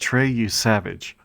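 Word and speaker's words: Trey Yesavage: Ooh, he's going to Yesavage? Yesavage? I got to look that up. Here I go. I just looked it up. It's pronounced Trey You Savage.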